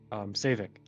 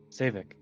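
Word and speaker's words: Saevik: Right, the dude that wrote this, Savik. It was what? Savik. Savin? Savik. Savik? Yeah, S-A-E-V Vic. Savik.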